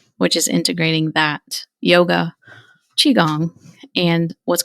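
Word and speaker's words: qigong: is why I'm a huge yoga advocate and chiong which is spelled Qi g o n g and gong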